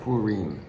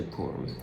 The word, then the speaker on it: Purim: And you would actually pronounce it Purim, but in English we say Purim, after the name of Pur.